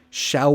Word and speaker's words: shall: we get lunch now notice my pronunciation there I change the L to more of a ooh sound shall shall we so those two